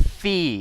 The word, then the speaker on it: Fi: of it's kind of fee and I know it's and I know her name is pronounced fi but if you wanted me to pronounce it fi you would have stuffed an A in there like how we